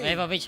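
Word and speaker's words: Ewa Beach: Eva Beach, Hawaii. Tomorrow is her special day. Okay, good. Nakangapit sa Zikarili, Ewan Beach. Eva Ditoy, iti pa nang i-pronounce na kano according to some individuals from Hawaii.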